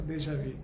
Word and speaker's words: déjà vu: é esse déjà vu, ou da pronúncia correta, déjà vu.